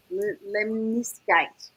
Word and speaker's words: lemniscate: Lemiscate. Lemiscate. Lemniscate.